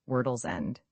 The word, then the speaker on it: World's End: It was locally pronounced Wordle's End.